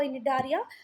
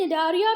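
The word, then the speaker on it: Cnidaria: बेटा इसका प्रोनाउंसिएशन अगर आपकी टीचर कुछ और करती है तो वो सुन लेना, बाकी मुझे सही लगता है वो निडारिया और है सिलेंट्रेटा।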